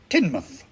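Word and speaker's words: Tynemouth: kirkubri Leo minster is lemster and tianmouth is tinmouth and habisberg is pronounced hayesboro while we're on the subject of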